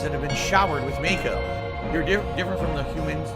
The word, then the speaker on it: Mako: It's Mako, not Mako. Pronounced the same way as the actor that played Uncle Iron in The Last Airbender.